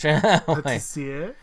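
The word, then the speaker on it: Pâtissière: It's, So my last is Yumeiro Patissiere. I pronounce it with the French. Patissiere.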